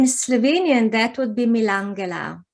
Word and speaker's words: Milangela: How do I pronounce in it? Slovenian? That would be Milangela. Milangela.